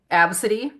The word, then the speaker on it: Abcde: That really cool name, Absidy. Remember, you know how it's spelled? ABCDE. Oh, Isn't that outstanding? My name is spelled ABCDE, Absidy.